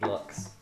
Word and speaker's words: Lux: Lou or Lux? Lux. I've never heard it pronounced Lou before. Lou is 400 Lou's. Is it LUX? Yeah. That's Lux then, yeah. Okay. Like look. Luxembourg. Yeah, or Luxembourg. As in luxury.